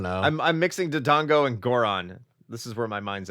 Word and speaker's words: Goron: You didn't even say it right. How do you say it? I want to say this right. Are you talking about tears to flow? Are you talking about Gorons?